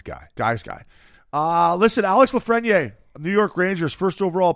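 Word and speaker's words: Lafrenière: Yeah, Lafreniere.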